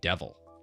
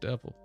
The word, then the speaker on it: devel: to be lib xcb devil I know always drive people crazy it's not pronounced devil it's a rail B system it's pronounced devil all right drro box